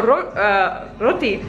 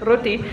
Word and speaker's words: roti: And also roti, you know, Indian word, roti, they say roti.